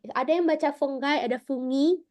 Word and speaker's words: fungi: yang baca fungai ada fungi kalau kita orang Indonesia secara biologi kita sering bacanya fungi ya fungi inlish ya bacanya fangaion dibaca seperti g-nya du bet tapi dia penulisannya g-nya sat ya fungus fangai fanges fanges